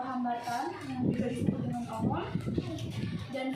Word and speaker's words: ohm: Karena ini ada orang yang menemukannya, maka R itu satuannya adalah ohm.